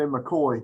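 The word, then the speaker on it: Mackay: with uh um with colonel mckay or colonel k of uh mk is that the right word right way to say that or is that a mccoy yeah down airway we'd say mccoy here mccoy all right right mccoy so he gets into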